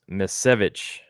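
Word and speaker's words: Misiewicz: fine yeah Dr Van saying is pronounced misevich misevich Anthony misevich okay still that but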